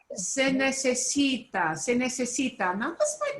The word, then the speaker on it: necesita: The second from the last syllable gets the punch. It's not necesita, it's necesita.